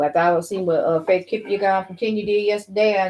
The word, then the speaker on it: Kipyegon: Faith Kipyegon. She's from Kenya. Okay. Shout out to her, man. Yeah, for real. Yep, How you say her name again? Kipyegon.